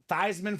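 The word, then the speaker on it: Theismann: Dame PR staff and they decided to to change the pronunciation of his name you know why because he was a Heisman Contender they said let's get thyman for the Heisman it worked kind of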